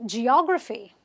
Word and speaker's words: geography: Words ending with the PHY, you will say geography. Third last syllable again. This is the last syllable. This is the second last syllable, but you will stress on the third last syllable and say geography is my favorite subject.